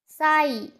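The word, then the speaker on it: sigh: किसी वर्ड के लास्ट में जीएच आए तो जीएच हमेशा साइलेंट होता है। तो चलो यहाँ पे भी एग्जांपल्स के थ्रू समझते हैं। हाई, साई, थाई, तो यहाँ पर भी आप देखिए लास्ट में जीएच आ रहा है।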